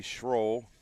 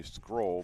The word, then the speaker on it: Schroll: especially his daughter because a lot of people say scroll because it's it's spelled s c h r o l l